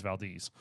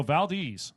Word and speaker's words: Valdez: pronounce it Valdes Valdes you got to say it like a local y'all it's not Valdez it is Valdes so Valdes now that's a hall